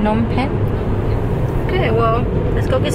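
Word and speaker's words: Phnom Penh: If it's PHNOM, PHN. PHNOM, PENH. Nom. PHNOM. PHNOM. Nom. And then PENH. Pen. Nom pen. Nom pen?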